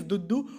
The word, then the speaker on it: duddu: यहाँ पे DUDDU, okay, the pronunciation is दुद्दू।